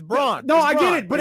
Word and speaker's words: Braun: He He said he pronounces it the wrong way. That's how it's supposed to be pronounced. It's Braun.